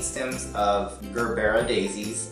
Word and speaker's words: Gerbera: You're gonna need about 4 to 5 stems of baby's breath, 8 stems of Gerbera daisies. I call them Gerber daisies, but people say Gerbera because that's how you spell it.